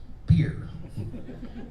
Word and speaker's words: Pierre: pier is the uh that's spelled p-i-e-r-r-e i think it's french they pronounce it pierre but in south dakota it's beer and casey comes from